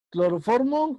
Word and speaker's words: cloroformo: Cloroformo, ¿cuál es la sílaba tónica?